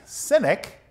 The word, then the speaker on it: Sinek: me as ironic is simon's last name sounds like cynic but it's spelled s i n e k the merriman webster online